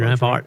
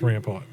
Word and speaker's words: Rampart: That's right, Rampart. Rampart. Street. I got made fun of for saying it like that. That's correct. That's the other thing. I grew up on North Rampart.